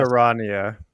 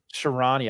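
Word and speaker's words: Charania: Sharania. Sharania. I butchered it on the show.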